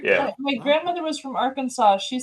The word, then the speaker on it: Arkansas: Isn't it Arkansas? No, it's Arkansas. Right. But it's spelled like Kansas with just an AR in front.